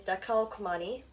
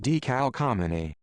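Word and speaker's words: Decalcomanie: the next one is dakal kumani why did i say it like that decal comedy i don't know that's how you say it in korean and how it's said in song by mamu so you really need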